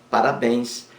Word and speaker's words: parabéns: parabéns parabéns parabéns parabéns a sílaba mais forte a última logo parabéns é uma palavra oxítona e leva acento gráfico